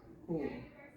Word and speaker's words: whole: Then the W is silent, so we just say whole.